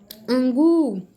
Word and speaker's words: angu: Angu, esse gu aí é a última sílaba, não é? E é a sílaba tônica também.